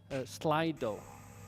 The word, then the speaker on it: Slido: I'll ask him the questions, and you will put them online on a site called Slido. So it's spelled SLI.do, Slido.